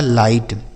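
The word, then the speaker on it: light: पढ़ा जाएगा नाइट आगे एल आई जी एच टी तो एल आई से पढ़ा जाएगा बच्चों लाई और जी एच टी से ट लिखा है लाइट क्या लिखा है लाइट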